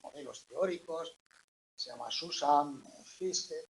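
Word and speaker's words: Fiske: teóricos se llama Susan fisk no s se pronuncia fis tiene ahí la foto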